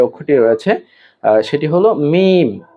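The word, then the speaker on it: ميم: এই মিম উচ্চারণ অত্যন্ত সহজ। আমরা যেমন বা উচ্চারণ করেছিলাম দুই ঠোট হতে। ঠিক একইভাবে এই মিম দুই ঠোট হতেই উচ্চারিত হবে। যেমন মিম ঠোট গোল হবে না। বরং স্বাভাবিক থাকবে।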